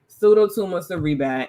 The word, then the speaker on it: Pseudotumor Cerebri: The only reason I know how to pronounce it is because I had it, Pseudotumor Cerebri, and it was basically when the spinal cord fluid is not recycling at the rate that it should.